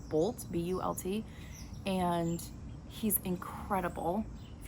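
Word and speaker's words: Bult: I think his last name is pronounced Bolt, B-U-L-T, and he's incredible.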